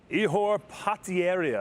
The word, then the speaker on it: Ihor Potieria: Ihor Potieria, I believe is the correct way to pronounce his name. I don't even think the great John Anik got it right.